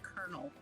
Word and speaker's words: colonel: Me growing up trying to understand how to pronounce the word kernel versus how it's spelled.